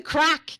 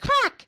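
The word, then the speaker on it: craic: Britain, "Oh my god, what's the crack?" Which means, "How's your day going? how's your life? What's what's going on in your story? And I used to get the weirdest looks because it's spelled C R A I C.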